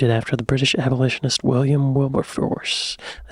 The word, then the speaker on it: Wilberforce: Quakers and named it after the British abolitionist William Wilburforce.